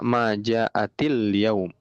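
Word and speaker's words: ما جاءتِ اليوم: Kalau disambung nanti bacanya gini. Heeh. Ma jaatilum. Ya. Hiya ma jaatil yaum.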